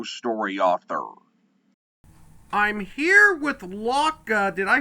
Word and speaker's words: Lauca: is a micro story author I'm here with Locka did I pronounce that name correctly yes you did perfect